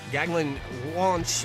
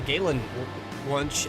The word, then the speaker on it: Galen Wunsch: Gaglan Wunsch is going to start in, that's actually Galen Wunsch, I believe is how that's pronounced.